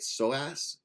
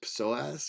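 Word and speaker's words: psoas: back this muscle I I say it soas but it's soas with a p but you have a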